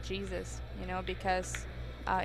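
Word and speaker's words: Jesús: his name sounds like Jesus you know because uh in Spanish language J pronounced like H H yeah so everybody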